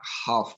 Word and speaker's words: half: dalam hal pronounce passion bahwa kata dalam bahasa Inggris yang mengandung huruf L di tengah itu umumnya tidak dibaca atau voice ya Misalnya kata half tadi ya hlf itu umumnya